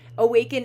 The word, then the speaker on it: Awakein: Awaken is the DJ name that Max and I go by. It's spelled Awakein, Awaken.